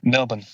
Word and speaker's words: Melbourne: Everybody say you're supposed to say um you need you need to say without the R some Melbourne.